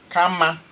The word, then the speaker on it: Kama: Kama, that's the name of a person. Kama. Kama, just spell it K-A-M-A.